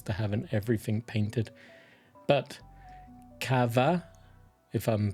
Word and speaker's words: Cathbad: Cathbad is the English version of his name, but I think it's pronounced Kava. Kava? I struggle with the Irish names. I believe it makes V noises, so Kava.